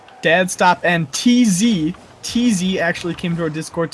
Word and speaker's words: TZ: TZ actually came to our Discord to remind us that his name is pronounced TZ and not Teza or Tease or whatever we've been saying.